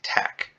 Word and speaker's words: TeX: contain mathematical formatting using tac now that's spelled t-e-x but it's pronounced tech any text enclosed between